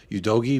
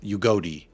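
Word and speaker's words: Udogie: deduct points from you the more you say you dogy because it's ugod that's how you pronounce it oh ugod okay ugod yeah so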